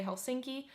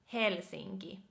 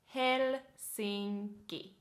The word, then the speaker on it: Helsinki: So yeah, in English you would say Helsinki, but in how you would pronounce this in a Finnish way would be Helsinki. Helsinki.